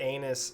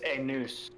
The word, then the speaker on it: Anus: Anus Sugma. Oh yeah. It's a noose. Oh, Anus, my bad. Yeah, God, yeah, we did pronunciation. decide. We did decide it was a noose.